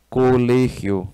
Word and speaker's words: colegio: Colégio. Deixa eu apagar aqui e escrever bonitinho. Co le, ó. Colégio. É o G que sai diferentão. Universidade.